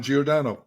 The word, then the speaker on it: Giordano: floats your boat it's okay how would you pronounce it uh do geordano okay perfect so welcome to the podcast I